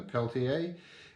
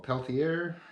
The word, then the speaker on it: Peltier: and cold and the Peltier or Peltier however you want to pronounce that so that's a